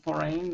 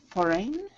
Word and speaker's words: foreign: But when it's in the word foreign, it's pronounced like rin.